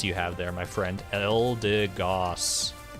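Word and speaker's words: Eldegoss: have there my friend elder goss not elder goose oh no definitely no goose here giraffe rig always remember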